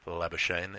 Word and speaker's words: Labuschagne: Well, I sort of feel awkward about it because it is Labuschagne, and that's how it's pronounced in South Africa.